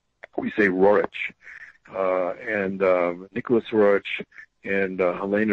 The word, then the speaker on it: Roerich: Roerich is the way the Russian, the Roerich is how it's said in Russian. In English we say Roerich.